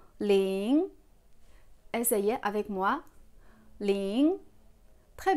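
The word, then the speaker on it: 零: Et en lisant, il faut faire attention à la prononciation et au ton. On commence par lire le 0. Ling.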